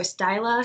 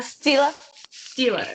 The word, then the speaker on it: Stila: Is it Stila or Styla? Stila.